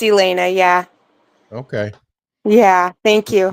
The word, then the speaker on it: Elena: So, do you pronounce that Elena or Elena? Elena. Either way is fine, but it's Elena.